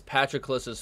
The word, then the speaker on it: Patroclus: That is Patroclus's father. It's pronounced Patroclus. It's not Patroclus. I said Patroclus for such a long time.